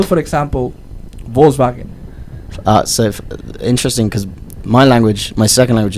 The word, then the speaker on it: Volkswagen: it's, How do you spell, for example, Volkswagen? Interesting because my second language is German, so it's the pronunciation is the V is like an F, so it's Volkswagen, and the Ah, W is like a sorry.